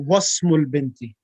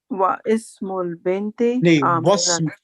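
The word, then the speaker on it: واسم البنت: When preceded by a word, then initial I is dropped. Is the I or alif? Yeah, alif. Yeah, alif is dropped in the pronunciation. Alif is dropped in pronunciation. Yep. So it becomes ismul waladi Bilalun wa ismul bint. No, wasmul binti. Wa ismul binti. Wasmul binti. Oh, yeah, alif becomes silent.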